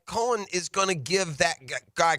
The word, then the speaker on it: Coen: Cohen by the way we know exactly how to pronounce his name because he said hi I'm Liam Cohen um I've heard lean cone I've heard it all um and now I've